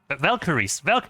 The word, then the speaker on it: Valkyries: In German, it's Valkyren. Valkyries. That's the proper pronunciation and phrasing.